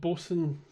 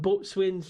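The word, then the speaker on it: boatswain: Uh and it's they're called Bosen Bosen's joinery. And I can imagine so many people up and saying, "Is that Bo Swain's joinery?" Because those kind of those kind of words have gone out of you know it's like gunnels.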